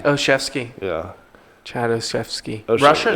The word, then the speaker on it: Olshavsky: spell it. It's Oshevsky. Oshevsky.